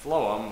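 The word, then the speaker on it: phloem: remember this is that food has the F sound at the beginning and flum with ph also has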